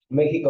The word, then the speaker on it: México: México, ¿dónde se acentúa? En la E, ¿qué tipo de palabra es?